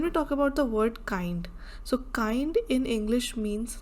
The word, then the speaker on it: Kind: So you can see that kind in English is nice, but kind, the pronunciation is kind, that is in German as child.